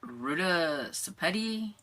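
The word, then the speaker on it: Ruta Sepetys: So this next one we have is the Bletchley Riddle by Ruta Sepeti.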